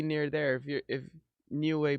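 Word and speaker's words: Niue: How How do you pronounce that thing, bro? Newway.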